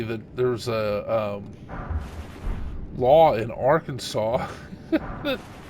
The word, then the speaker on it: Arkansas: And you know that some legislator out there got annoyed because people go around joking, saying Arkansas. And they're like, stop, you know the name's Arkansas, Dave.